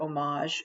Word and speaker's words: homage: look up the word homage which sounds like it starts with o but it's actually a silent h so it's h o